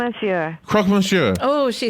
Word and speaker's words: croque monsieur: a croque monsieur how do you say here crosman sure oh she says it's so good so do